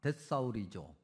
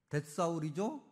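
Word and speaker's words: θησαυρίζω: 근데 이렇게 발음합니다. 데사울이죠. 그다음에 보물이라는 단어는 명사인데요. 이렇게 발음합니다. 데사우로스. 비슷하죠? 아니 똑같죠? 예. 데사울이죠.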